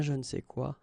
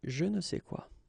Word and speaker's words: je ne sais quoi: Okay, and then phonetically, of course, it's the same pronunciation. Okay, un je ne sais quoi, des je ne sais quoi.